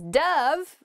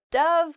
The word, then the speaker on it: dove: often represents peace and it can also uh be pronounced Dove which is the past tense of the verb to dive uh so you might